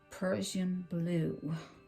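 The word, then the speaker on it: Prussian blue: I have some really dark blue, P-R-U-S-S-I-N-I-A-N, Persian blue. I want to pronounce it right for you so you know what you want to get.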